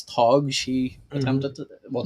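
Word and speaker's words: Tadhg: I'm going to say that's Tog.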